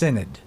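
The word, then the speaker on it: synod: Now to settle the matter, the Dutch government conveyed what was known as a national cinnid uh s y n o d pronounced cinnid.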